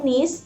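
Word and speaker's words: niece: nephew untuk kemenakan laki-laki kalau nis bacanya nih ya bukan nih aja ya nis itu adalah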